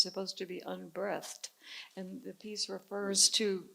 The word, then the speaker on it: unbreathed: I learned that the piece is, instead of unbreathed, I've always thought unbreathed was how to pronounce it, but apparently it's supposed to be unbreathed.